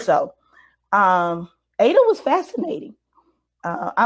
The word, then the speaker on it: Ada: But they like to call her Aida, whatever. But her name is Ada. Even when she was born, her birth name is Ada, Ada, and she never pronounced it differently when she started performing and added the I.